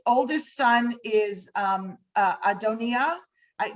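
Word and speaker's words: Adonijah: um uh adonia i the the j uh trips people up all the time most of us would pronounce us at amnesia but the j like is a german j it's a y sound so adonia uh and which means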